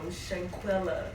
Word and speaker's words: Shanquella: Like having to check your circle and seeing who you with and if they're really legit your friends or like the Shanquella, that's how you say her name, the Shanquella thing is like everywhere.